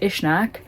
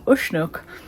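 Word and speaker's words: Uisneach: Um, so and like I was saying yesterday, um, I heard it pronounced Ishnak, but then people there were saying Ushuk. So yeah, maybe there's different pronunciations depending where you're from.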